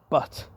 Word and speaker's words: Butte: So, it's spelled B U T E. So, it's a double T. So, it's but. Uh, now the E really should be silent. So, it should just be but.